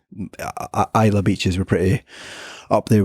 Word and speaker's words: Islay: I went to Islay, it's pronounced. I always pronounced it Islay before I went to the island and got told off by the locals.